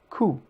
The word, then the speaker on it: coup: Coup. So, oo is pronounced just like the English oo in root, but shorter.